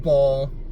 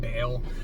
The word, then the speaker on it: Baal: between the prophets of Ball. I'm I'm gonna go probably back and forth between pronouncing it Ball and Baal, but the prophets of Bal and the prophet of God, which was Elijah.